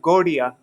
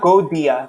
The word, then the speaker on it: Gaudiya: And it's not Gaudiya. That's not how you say it. It's actually maybe closer to a ra sound. Gaudiya. It's like a rolled R. Rolled R, rolled D. Anyhow, it's in between D and R.